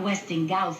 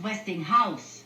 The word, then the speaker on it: Westinghouse: Look, it's not Westing Gaus. It's Westinghouse. House. No, there are Westing Gaus. Gaus. How do you pronounce W S T I N G.